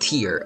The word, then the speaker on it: Tier: And yes, I have, it's pronounced Tier, alright.